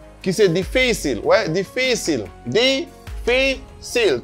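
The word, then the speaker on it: difícil: Esta palabra lleva un acento sobre la anteúltima sílaba.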